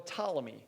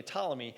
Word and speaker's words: Ptolemy: the northern empire the southern empire was general ptolemy who took over this okay p-t-o-l are you spell that okay ptolemy he's the only took over the southern empire